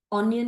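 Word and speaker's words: onion: I hope you don't feel, really as a friend I am talking, so एज to correct ये, इसको ऑनियन को अनियन नहीं बोलते हैं, ऑनियन ही बोलते हैं।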